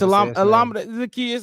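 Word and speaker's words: Olamide Zaccheaus: It's Alameda Zacchaeus.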